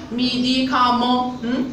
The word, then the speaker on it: médicament: comme par exemple on a le mot médicament. médicament كتسالى لينا ب e n t ولكن تنطقوها.